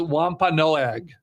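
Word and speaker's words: Wampanoag: I was hoping she knew how to pronounce it so I didn't have to. But it's Wampa Noag. The Wampa Noag tribe was the uh helped the pilgrims survive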